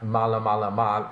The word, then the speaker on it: Maalamalama: my news site at malamalama, again, that's spelled MAALAMALAMA, exactly how it sounds, /WordPress.